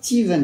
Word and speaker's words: Stephen: Steven, ça s'écrit Stephen, il a déjà dit hein. Et ça se prononce Steven.